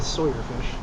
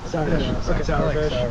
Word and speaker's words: Sauerfish: I thought it was a Sawyer fish. It's not sour. It's like sauerkraut. Sour fish.